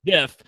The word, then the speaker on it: GIF: Like, I can only hope that we get such a great GIF, and it's pronounced GIF, that we got last time when you were